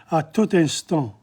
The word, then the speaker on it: à tout instant: But the French, sometimes when there's a vowel at the end, they join it with the other one, à tout instant.